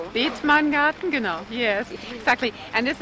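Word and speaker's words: Bethmann Garden: Did I pronounce that right? Beetman Garden, genau.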